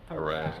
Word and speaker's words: harass: Educated usage appears to be evenly divided on the pronunciation of harass, and this word. What do you say, Jeff? I don't know. I go back and forth. Yeah. It depends on who's doing I it. think you can go back and forth. In a recent survey, 50% of the usage panel preferred stressing the first syllable, while 50% preferred stressing the second syllable.